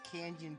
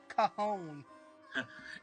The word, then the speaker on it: Cajon: was younger, I always used to call Cajon Pass Kanjan Pass. That's what I called it. I called it Kanjan Pass as a kid. Yeah, until I realized it was that you're supposed to pronounce it Cajon.